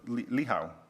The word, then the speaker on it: Licho: where you find uh Licho Creek or Lihao. Again, this C is silent.